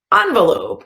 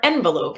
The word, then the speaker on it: envelope: I also have an envelope or envelope. You can pronounce it either way. Envelope, envelope. I think I say both.